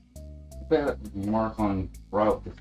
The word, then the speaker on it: Marathon: Like Marathon. So I have been pronouncing it incorrectly by calling it Marthon.